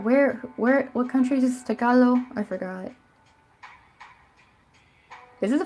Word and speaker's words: Tagalog: for so freaking long I thought it was Tagalog right cuz that's how it sounds like you would be pronouncing English and heard other English you know other Americans say like teachers and stuff I heard them say Tagalog for so many years I was saying Tagalog and I always thought that cuz like I in my head it always felt wrong like I was like this cannot be how it's pronounced it just felt so